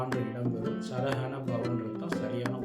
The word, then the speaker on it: சரஹணபவ: சர ஹன அசர ஹனப அந்த சப்தம் முக்கியம் மாறக்கூடாது சரஹன அப்படின்றது அந்த ஹனா ஹ தான் வரணும் சரவணன வரக்கூடாது சரகண பவ அப்படித்தான் வரணும் சரிங்களா சோ உச்சரிப்பை சரியா சொன்னீங்கன்னா